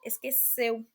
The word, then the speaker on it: esqueceu: Esqueceu, a letra E, é pronunciada com um som fechado. Esqueceu, esqueceu.